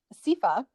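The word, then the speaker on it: seiðr: the goddess freya probably heard of them uh sifa which is i know that's how it's pronounced but not at all way differently guys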